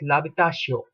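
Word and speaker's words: l'habitation: will call it as lavitasio because h obviously is not pronounced uh one more example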